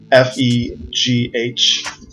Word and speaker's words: Fegh: The following is a breakdown of the phenomena that I termed the female group hierarchy, or Fegh, F-E-G-H, pronounced Fegh like F-E-Y, in any case.